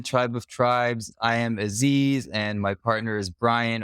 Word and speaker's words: Aziz: But the actual pronunciation in Arabic is Aziz. With that like Yeah, so it's like an but it has, well, I guess in the back of your throat is where that movement is.